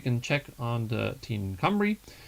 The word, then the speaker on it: Cymru: check on the Team Cymru. This is a strange Welsh name, so the Y is pronounced as a U and the U is pronounced as a Y.